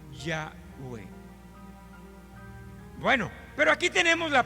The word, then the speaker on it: Yahweh: Entonces, estas cuatro consonantes, conocidas como el tetragramatrón, que es en griego, y agregándoles las dos vocales, la A de Adonai, la E de Elohim, entonces se puede pronunciar como Yahweh.